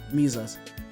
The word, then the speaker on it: Mises: song with Adam Calhoun, Mises, pronounced like Jesus, Mises.